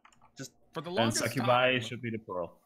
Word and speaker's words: succubi: How do you pronounce it? Succubus singular and succubi plural.